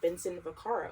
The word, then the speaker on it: Vincent Vaccaro: So today we're diving into the world of jazz studies with Vincent Vaccaro. Am I pronouncing that correctly? That's correct, yes.